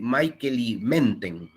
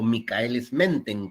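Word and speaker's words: Michaelis-Menten: y la constante de Michel menten o mikeles menten como ustedes quieran pronunciarlo eh estos Serían como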